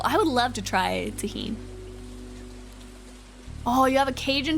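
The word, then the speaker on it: Tajín: Tajin, that's how you say it, right? Tajin, because the J is like a jalapeno.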